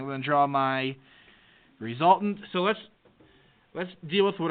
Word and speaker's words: resultant: It starts with an R. Rhymes with exultant. Resultant vector.